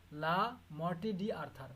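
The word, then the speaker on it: Le Morte d'Arthur: এটার নাম হচ্ছে লা মর্টে ডি আর্থার, উচ্চারণ হচ্ছে লা মর্টে ডি আর্থার, মনে রাখবা, লা মর্টে ডি আর্থার, written by sir Thomas Mallory.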